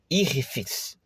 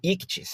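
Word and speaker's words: ἰχθύς: palavra irritis, né? Ou para eu caprichar um pouco mais na pronúncia correta, irrifes ou ictis para ficar mais fácil em grego, peixe era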